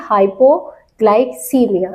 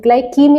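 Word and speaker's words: hypoglycemia: ठीक है अब देखिए हाइपो ग्लाइसीमिया ग्लाइम नहीं ग्लाइसीमिया हाइपोग्लाइसीमिया low blood sugar levels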